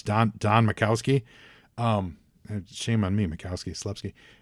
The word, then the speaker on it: Majkowski: I can't pronounce that. Majkowski.